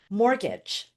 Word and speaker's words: mortgage: Mortgage. Here again, a little bit of a pronunciation alert, there is a silent T in mortgage. It is not pronounced.